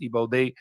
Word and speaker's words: Igbo: So the Igbo, and it's often spelled with the G. Sometimes it's not with the IBO, but it's pronounced Igbo.